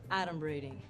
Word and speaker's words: adumbrating: Like, first of all, it's pronounced adumbrating.